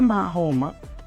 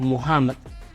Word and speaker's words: Muhammad: Entonces, el profeta Mahoma, o Muhammad, como se pronuncia correctamente, fue quien fundó el Islam.